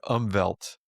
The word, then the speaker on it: Umwelt: There's this German word, Umwelt, which is spelt with a V because with a W,